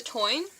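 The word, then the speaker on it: Táin: One of the things I read for the Celtic literature class was The Toyne. Doesn't really look like it would be pronounced like that, but it is.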